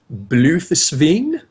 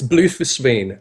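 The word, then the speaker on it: Bloefhiswyn: this name right MVB blusen really I just call her Mer bloww I don't know how to pronounce okay all right it's blue foren um so mer blue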